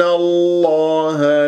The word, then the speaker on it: الله: مفتوحه قبل الاسم الجلال الله تفخم الله من اسم الجلال الله ان الله بهذه الطريقه ولا اقول الله دائما اكرر دير بالك اتكور الشفاء في نطق اسم الجلال الله الله وليس الله فانتبه الهاء ان الله لا